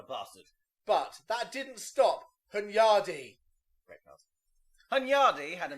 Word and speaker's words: Hunyadi: Hyundai, as Tobias wants to pronounce it, I love their cars. Hunyadi. Hunyadi. which sounds like you've misspelt Hyundai.